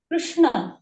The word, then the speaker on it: कृष्ण: होता है ओ से इन दोनों ध्वनियों के बीच में रिकार पढ़ा गया है और रिकार दंत से ठीक है बोल करर देखिए कृष्ण कृष्ण कृष्ण जब कृष्ण